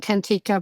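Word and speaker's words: Kantika: I call it Tantika, by the way, but people who speak Latino or Spanish might say it differently, so you can pronounce it wherever you want.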